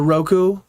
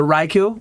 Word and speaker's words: Raikou: was it the the Roku the Roku Roku I just said it I said it wrong the Raikou was it the raiku